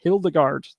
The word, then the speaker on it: Hildegard: it again inspires and hild guard hildegard i think that is how you say it um all right so